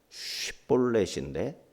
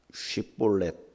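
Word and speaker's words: שיבולת: 이렇게 시볼렛을 못 해가지고 시볼렛인데 시폴렛으로 한 거예요. 그래서 이제 강 건너편에서 살다 보니까 이제 이게 그쪽 말에 이제 익숙하다 보니까 지방의 사투리가 되다 보니까 쉬볼렛 못하고 시볼렛, 사메크로 발음을 하는 거예요.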